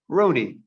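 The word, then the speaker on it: Roni: runes we see here they spell in our alphabet r o n i phonetically that's my christian name rooney it's also my welsh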